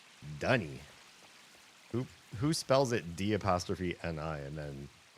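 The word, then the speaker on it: D'ni: Also, I did notice in that last cutscene, Yisha pronounces the name of the city the way, in my brain, it should be pronounced. I sat through as many Myst games as they pronounced that word, cringing at their pronunciation.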